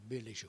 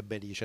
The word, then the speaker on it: Belice: mentre in origine è Belice. Lei cosa ne pensa? Ma tradizionalmente noi abbiamo detto sempre Belice, non Belice. Questa è stata un'invenzione soprattutto di Corrao.